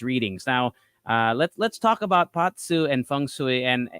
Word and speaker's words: Bazi: How do you read these readings, and what exactly are the differences between Patsu, which is spelled Bazi, by the way, if anyone